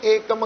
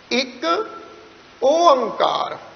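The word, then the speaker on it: ਇੱਕ ਓਅੰਕਾਰ: जा कई पढ जा ओमकार पता नहीं ना अनजान पुण पढ़ जाे गलती कर जा नाते एकम का है ना ओमकार है द असल शुद्ध उच्चारण है जी एक ओंकार य मानो तिन लजा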